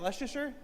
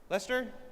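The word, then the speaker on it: Leicester: How do you say is that Lucaser? Lester.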